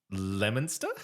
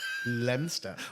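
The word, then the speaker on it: Leominster: this one uh uh so it's spelled Leo Minister but is it lemonster lemster so you CL you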